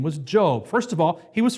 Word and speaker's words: Job: the pronouncement is spelled j-o-b not pronounced job it's the long o job so our story